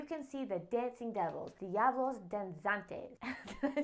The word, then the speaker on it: Diablos Danzantes: The most colorful event would probably be during Corpus Christi, where you can see the dancing devils, Diablos Danzantes.